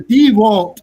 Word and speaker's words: DeWalt: The DeWalt, I said it right this time.